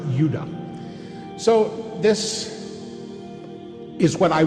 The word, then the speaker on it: Judah: tribes were called Benjamin and Judah more properly pronounced Yuda so this is what